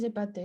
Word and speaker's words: épaté: берем как будто другая буква, и она существует, читается «эпате». Très bien. Здесь мы тоже Z соединяем, да? Не запаté. Le nez épaté.